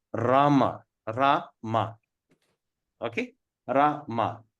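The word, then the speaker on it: Rāma: Rama. But when we put the A on top of this thing, we're going to pronounce Rama.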